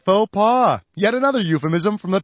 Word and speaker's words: faux pas: what the hell it rhymes with doha now's the time you got it faux pas yet another euphemism from